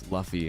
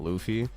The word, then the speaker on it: Luffy: bit I used to think that it was Fluffy and not Luffy until I was just absolutely assaulted by my